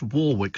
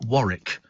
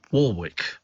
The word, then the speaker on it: Warwick: her in concert Dion Warwick and it is pronounced Warwick not Warick it's Warwick don't ask me why it just is uh